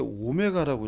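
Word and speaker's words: omega: 이거 W가 아니라 이거 읽을 때 오메가라고 읽어요. 오메가. 오메가라고 읽습니다. 이제 오메가는 이제 그리스 문자의 그 알파벳이죠. 이게 오늘날 이제 영어 알파벳의 W로 바뀐 건데 이거 읽을 때 오메가라 읽어요. W가 아닙니다.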